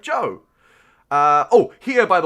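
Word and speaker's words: Zhou: pronounce the word and the easiest way for me to remember to remember how to pronounce z-h-o-u or z-h-o-u i should say i was thinking about that yesterday as well uh it's joe i'm like okay it sounds a bit like joe that's how i remember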